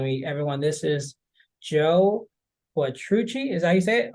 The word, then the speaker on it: Quattrucci: Everyone, this is Joe Quattrucci.